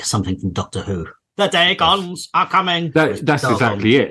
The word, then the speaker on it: Dagon: Here's another one. Dagon. It is officially Dagon. That sounds better than Dagon.